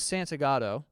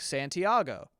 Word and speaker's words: Santagato: My last name is Santagato, and if you just look at the name, you go, that's how you say it. But people, for whatever reason, are like Santiago because they're not looking at the word.